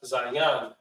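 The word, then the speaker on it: zayin: Za represents the weapon, and it's pronounced zayan.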